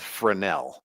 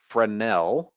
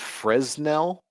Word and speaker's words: Fresnel: And it looks like it should be pronounced Fresnel. Okay. But that's not not wrong. This is named after a French guy. And so we're leaving out letters and it's just for now, right?